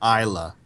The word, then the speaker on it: Isla: The S is silent. Isla. Like Isla Fisher?